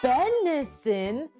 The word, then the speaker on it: benison: Benison has 3 syllables. Ben-i-sin. Benison.